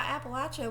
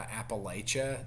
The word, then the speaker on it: Appalachia: Uh I heard this expression one time to teach people how to say it properly. I said, "If you say Appalachia, I'm going to throw an Appalachia," which is how uh we were taught that it was pronounced.